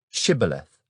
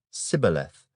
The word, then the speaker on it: shibboleth: say to him then say shibboleth and he would say sibileth for he could not pronounce it right then they would take